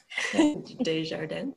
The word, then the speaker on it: Desjardins: So Desjardins, help me pronounce this, Desjardins, thank you, Siobhan, hired for cybersecurity.